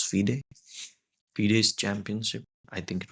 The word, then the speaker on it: FIDE: to play in the fiday FID Fay you say it like that it's Fay fed's Championship I think